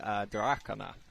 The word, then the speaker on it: Drakaina: Everyone says it differently. It's meant to be Drakaina, apparently. Really? But nobody ever says it like that. Drakaina.